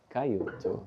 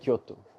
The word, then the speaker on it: Kyoto: Last minute he texted me and we got to Cayoto Kyoto.